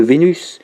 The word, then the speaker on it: Vénus: on sait pas 1 ça rime avec cornu mais nous de nos jours on va prononcer le s pour savoir que nous parlons de vénus la déesse un an voilà par